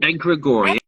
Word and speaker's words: egregore: Oh, egregore.